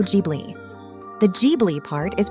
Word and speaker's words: Ghibli: hello film bugs so studio gibli is correctly pronounced as Studio jbi the gbi part is